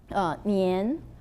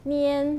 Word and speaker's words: 年: And what's special about the Chinese is that we have 4 tones. For example, Nian, we have 4 tones. That Nian, Nian, Nian, Nian.